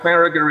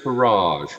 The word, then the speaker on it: Faragher: So, Faragher is mispronounced all the time, frequently as Farage, which I'm afraid does not necessarily endear me to the people who do that.